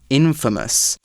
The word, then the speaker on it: infamous: Meanwhile, if someone is famous for bad things, then we say that they are infamous. So that's literally I-N and then F-A-M-O-U-S, infamous. We change the pronunciation a little bit.